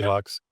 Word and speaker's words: Lux: my Lux or Luke's okay So, uh I don't know if it's pronounced Lux or Luke's if it's like Latin Lux like Luke's Lux and Yeah, usually Lux.